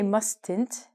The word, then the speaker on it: mustn't: a loud noise but when we say this the T is silent we do not say mustn´t you mustn´t pronounce the T you